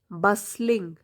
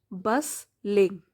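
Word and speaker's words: bustling: market is a place बस लिंग T silent होता है बस लिंग बस लिंग विद ऑल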